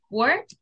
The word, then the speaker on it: word: I just have two corrections with pronunciation. Let me just put this here. Okay. This word, be careful with this and with this, okay?